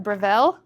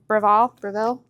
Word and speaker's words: Breville: a Breville. Is that how you say it? Breville.